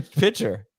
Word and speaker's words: Pitcher: Dan pitcher to offensive coordinator wait how'd you pronounce that P pitcher okay I got it um Miami and defensive